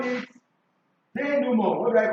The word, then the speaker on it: denouement: In literature, we call it denouement. What do I call it? Denouement. But it is spelled denouement. You understand? Denouement. Denouement. It's a French/Latin word.